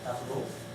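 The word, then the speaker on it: tableaux: A palavra tablô é 4, a palavra tablô não pronuncia o X, continua a falar igual, o tablô é 4.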